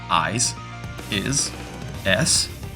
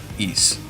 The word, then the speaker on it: Ys: How do you even pronounce that? I is S. Yes. Nope. It's simply East.